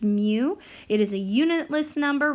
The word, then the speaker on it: mu: a curly tail in the front this is pronounced mu it is a unitless number ranging from 0